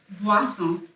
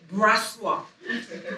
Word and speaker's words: Boisson: like, real quick, how do you say your last name? And I'm like, Boisson. Boisson. Boisson. Brassois. No. Boisson. There you go. It's French.